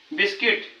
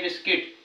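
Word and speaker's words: biscuit: guard आहे याचा उच्चार बिस्किट म्हणजे यु सोबत आय आहे बिस्किट यु चा उच्चार होत नाही बिल्डिंग यु चा उच्चार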